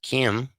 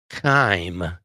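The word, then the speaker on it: chyme: know if you ever heard of chime but chime is sometimes what people hear when you're a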